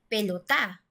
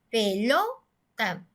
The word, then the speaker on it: pelota: Si nosotros dijéramos que la sílaba tónica, es decir, la sílaba más fuerte, estuviera en la última sílaba, nosotros entonces tendríamos que pronunciar pelotá, pelotá. Y nosotros no decimos pelotá.